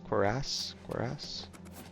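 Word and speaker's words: cuirass: Curus or quoras. Looks like you're handy with a I forget the correct pronunciation. Yeah, I think cororas. Quoras. Quoress. Quoress. This is one of the correct pronunciations.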